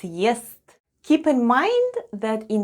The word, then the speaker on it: ест: The first sound is Е, then we have S, and then goes T, and all together it's ест.